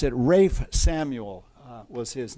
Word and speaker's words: Ralph: was pronounced English have problems with pronunciation they pronounce it Rafe Samuel uh was his name but he it